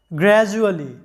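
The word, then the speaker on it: gradually: এখানে ডি এর উচ্চারণটা আমাদের আসতেছে কি জ এর মতো। কেন? কারণটা হচ্ছে ডি এর আগে আছে এই এবং ডি এর পরে আছে ইউ, মানে ডি এর আগে ভাওয়েল এবং পরেও ভাওয়েল, তাই ডি এর উচ্চারণটা হচ্ছে জ এর মতো, গ্র্যাজুয়ালি।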